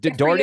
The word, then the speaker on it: Dougherty: Now, I might have said your last name wrong. No, you didn't. Dougherty?